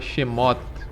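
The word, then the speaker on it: שמות: Já em hebraico ele vai se chamar Shemot, que é uma pronúncia aproximada, que significa livro dos nomes, Possivelmente, como a gente sempre fala, tem o objetivo de trazer essa ancestralidade.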